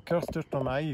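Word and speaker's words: chestertonii: a Dracula orchid, Dracula chestertoni or kirstertoni, if you pronounce it with a K, C-H is a K in Latin, and it's an endemic species from Colombia, just existing in Colombia.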